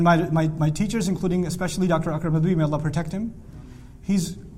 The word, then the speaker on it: Akram Nadwi: Akram Nadwi. A-K-R-A-M. Akram Nadwi.